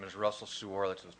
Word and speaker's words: Suor: It's spelled S as in Sam, U-O-R. In our house, we buy Suor cream.